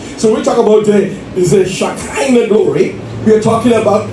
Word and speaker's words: Shekinah: And then we have the Shekinah glory. The Shekinah glory, and it is spelled like she, S-H-E-K-I-N-A-H.